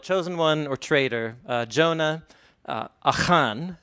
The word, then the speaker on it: Achan: So my presentation is titled Chosen One or Traitor, Jonah, Achan, that's how you say his name in Hebrew, and not Achan, Achan, and narrative analogy in the Hebrew Bible.